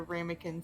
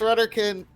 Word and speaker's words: Rudderkin: It's Rudderkin. Yes, Rudderkin. Fayette would say it right. I'm just a disaster. No. I would imagine Fayette didn't say it right, and then That's it's fine. just a distant background. It's Rudderkin. It's Rudderkin. Ramekins are small bowls.